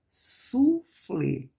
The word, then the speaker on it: soufflé: Outra, soufflé, soufflé. Então, qual a que pronunciamos mais forte? O flé.